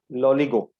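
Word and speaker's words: Loligo: Okay, इसको बोलते हैं लॉलीगो. बोल प्रोनाउंस करना है तो नेक्स्ट टाइम सिर्फ लॉली लॉली करेगी.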